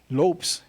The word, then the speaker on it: Lopes: portuguese pronunciation of chavez lopes like davey lopes the baseball player is the is the portuguese pronunciation of lopez so lopes comes out